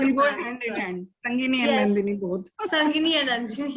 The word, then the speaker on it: Sangini: Sangini rhymes with Nandini, ma'am.